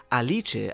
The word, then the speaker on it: Alice: revealed to be aliche it's written as Alice but it's pronounced aliche as it's an Italian name as was shown during